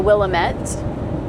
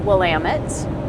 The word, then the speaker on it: Willamette: When I started traveling through here, I called it the Willamette, but it's pronounced Willamette.